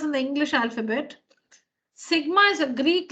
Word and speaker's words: sigma: Now this one is read, or this one is pronounced as sigma.